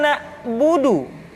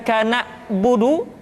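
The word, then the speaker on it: نعبد: Kemudian perhatikan ketika huruf ain disukun, maka suara kita tidak boleh mati. Contoh, iyyaka na'budu, bukan kana budu, tetapi agak ditekan sedikit, kana budu, iyyaka na'budu.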